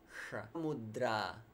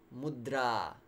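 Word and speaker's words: mudrā: goes up for mudra it's not yoga mudra many people attempted to emphasize that mudra yeah because in many languages you automatically emphasize the first syllable forget it in Sanskrit you emphasize the long vowels that's the simple principle I can give you now and you don't emphasize the short vowels okay if we don't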